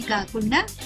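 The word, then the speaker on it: cock: గమనించండి, ఈ పదంలో సి యొక్క శబ్దం ఖ మరియు కే యొక్క శబ్దం కూడా ఖ. కానీ ఉచ్చరించేటప్పుడు మనం సికే యొక్క శబ్దం ఖ ఖ అని కాకుండా కేవలం ఖ అని తీసుకోవాలి. కాబట్టి ఈ పదం యొక్క ఉచ్చారణ అవుతుంది సిఓ యొక్క శబ్దం కా, సికే యొక్క శబ్దం ఖ. కాబట్టి పదం యొక్క ఉచ్చారణ అవుతుంది కా క కాక్.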